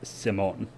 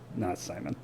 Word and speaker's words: Simón: It is pronounced Simón, not Simon.